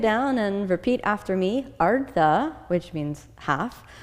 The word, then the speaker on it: Ardha: Ardha, which means half. Ardha, again, which means half.